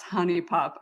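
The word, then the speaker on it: HuniePop: you guys don't know honey uni poop I don't know how you say it it's supposed to be pronounced Honey Pop I just never called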